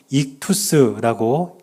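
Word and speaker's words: ΙΧΘΥΣ: 헬라어로 익투스라고 읽는 단어인데 뜻이 뭐냐면 물고기라는 뜻이에요.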